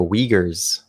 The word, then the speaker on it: Uyghurs: like you you've seen what's happening with the uyghurs right in china and the south west china's excuse me the what the uyghurs oh okay yeah uh that's how you like yes that is how you pronounce it i've been saying that wrong for